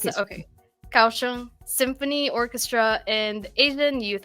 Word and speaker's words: Kaohsiung: Yeah, Kaohsiung. Okay. Did I pronounce that? Okay. Kaohsiung Symphony Orchestra and Asian Youth Orchestra.